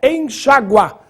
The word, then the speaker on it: enxágua: Vale pro caso seguinte enxágua ou enxagua a forma oficial é enxagua portanto com acento agudo no a já no caso seguinte